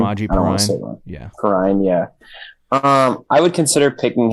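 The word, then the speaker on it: Perine: Perrine, yeah. I would consider picking him up. I do think there's a chance they'll split him with Chris Evans. Yeah. Maybe like a 60-40 split where Perrine gets more work, but Evans is involved.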